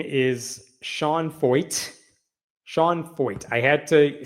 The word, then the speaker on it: Feucht: It's pronounced fo rhymes with exploit.